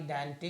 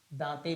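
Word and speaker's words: Dante: दांते भी पढ़ते हैं इसको। ठीक है ना, इसको प्रोनाउंसिएशन पे मत जाइएगा, अलग अलग लोग इसका अलग अलग प्रोनाउंसिएशन करते हैं, उससे कोई बात नहीं, आप समझे रहिए इसको, डांटे डांटे।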